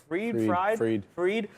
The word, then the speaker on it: Fried: more you know we did have Sam bankman fried freed uh fried in my bed freed it's spelled f-r-i-e-d yeah it is okay uh Sam